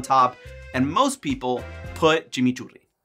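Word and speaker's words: chimichurri: and most people put Chim churi or Chim churi oh god it feels wrong feels wrong to say it like that it's like saying Argentina instead of like Argentina you know it's it's it's weird for me I feel like anyway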